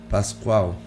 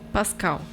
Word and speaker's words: Pascal: tem a sua contribuição Pascoal ajuda aí na pronúncia Fábia Pascoal Pascal Pascal Pascal Pascal braise geômetra físico